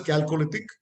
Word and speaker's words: Chalcolithic: Chalcolithic, it is called Chalcolithic, CHA, but pronounced as Chalcolithic, Bronze, and Mesolithic, Iron Ages.